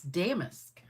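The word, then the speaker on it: Damask: it up and I said, "How do you pronounce that?" that I spelled it. And the lady says it's Damisk.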